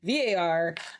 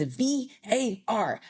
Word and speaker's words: VAR: They were like, it is VAR, not VAR, not anything else. It's VAR. Don't mispronounce it.